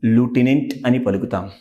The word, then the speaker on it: lieutenant: see because in example Japan see this word l i e u t e n a n t how do you pronounce this word Lieutenant got it then Lieutenant Lieutenant Lieutenant UK English